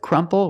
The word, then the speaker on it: crumple: crumble B crumble and with crumple we have the letter P so we make the P sound PP Crump they are different let's